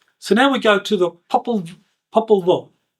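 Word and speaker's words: Popol Vuh: So now we go to the Populva. The Populva, I think is pronounced correctly. Populva. Angelica's nodding her head, so yes, that's how you pronounce it.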